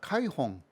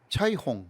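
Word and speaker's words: 彩虹: 카이홍. 카이는 그냥 진짜 중국 발음으로는 이거 차이홍.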